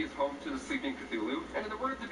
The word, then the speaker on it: Cthulhu: call of the feeling hp has stated that there isn't actually a correct way to pronounce cthulhu as the human tongue can't make the noises needed for its accurate title that's pretty cool so maybe if one day you're choking on some vanilla pudding and start coughing you might just say stain by accident the most popular pronunciation is how i'm saying it now cthulhu is also known